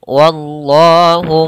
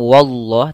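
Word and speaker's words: وَاللَّهُ: Kemudian wallahu muhitum bil kafirin. Wa tipis, Allahnya tebal. Hati-hati jangan langsung wallah, tapi wallah. Ya, wallah. Wa-nya tipis, Allahnya tebal. Wallah.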